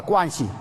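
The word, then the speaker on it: 关系: 관시. 한번 따라해봐요. 제가 중국 전통 발음이에요. 따라서 관시.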